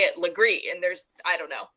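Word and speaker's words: Legare: way like I just I don't even understand it's spelled le GA re and just say it Legree and there's I don't know whatever anyway so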